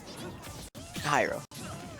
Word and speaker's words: Hyrule: yeah okay gyro hephro hero that's the only pronunciation yes no it's obviously hyrule hey hey twitter sarcasm yeah pyro hero pyro